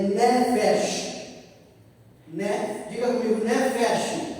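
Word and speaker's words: nefesh: A TR no original a palavra alma é ne feche né diga comigo ne fech ne Fe se escreve el é com a c f e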